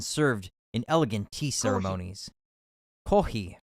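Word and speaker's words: コーヒー: in elegant tea ceremonies kohi or kohi is the Japanese pronunciation for coffee is very popular in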